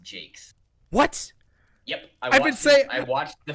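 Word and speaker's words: Jacques: hear a fun fact his last name is just pronounced jake's what yep i watched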